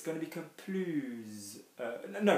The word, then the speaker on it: plus: So it is this S being pronounced which really makes the difference between yes and more or no more.